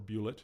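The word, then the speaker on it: Bulette: gargoyles, a rage drake, a bullet, or bullet if you want to pronounce it that way, carrion crawlers, harpies, and angels.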